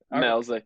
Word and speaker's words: Maleszyk: And let's get it going as we are fired up to have Central Michigan Chippewa Ben Maleszyk. Did I say it right? Maleszyk, yep.